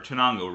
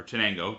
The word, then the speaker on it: Chenango: Uh the area is right in the area where the Susahana and the there's another Chinango River, yes, or Chenango, depending on how you want to pronounce it, rivers, uh meet.